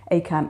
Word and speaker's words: ACAMH: ACAM is spelled ACAMH.